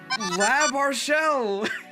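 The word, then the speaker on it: L'Arachel: People were wondering how to pronounce her name. It's Lab Marshelle.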